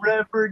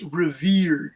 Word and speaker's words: revered: It looks like it's, okay, it looks like it's revered, you guys, but it's revered. Revered. The pronunciation is revered.